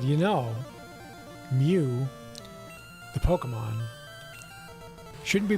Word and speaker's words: Mew: being idiots and just chanting like moo not Mew and uh you know like we were picketing